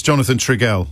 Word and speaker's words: Jonathan Trigell: It's Jonathan Trigell. Is that pronounced correctly?